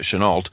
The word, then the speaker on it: Chennault: they'd been like Chenault although should know pronounce it Chennault and and the Flying